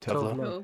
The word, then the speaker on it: Tove Lo: yeah, because how do you pronounce her name? Like Tova Lu? Tove Tove Lo.